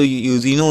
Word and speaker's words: Eugene: तो सबसे पहले जो जो यूजिनो ओनिल था, तो इनका फुल नेम क्या था? यूजीन, इजिन नॉट इजिन, ठीक है, ई नहीं है, ई साइलेंट है, ठीक है।